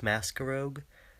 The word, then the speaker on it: Mascarowg: It's pronounced Mascarowg, just so you know.